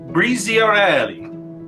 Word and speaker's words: Briziarelli: by Alessandro Giannoni and Andrea Bernardini from Cantine Briziarelli. Did I say that right? Yes, nice pronunciation.